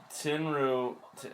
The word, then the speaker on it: Tenryu: Tenryu, is that how you say it?